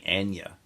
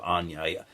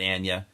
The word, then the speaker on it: Anya: notice I corrected myself I'm trying to get myself in the habit of saying Ana instead of Ana for the longest time I said Ana Taylor Joy she pronounces it Ana I'm trying to respect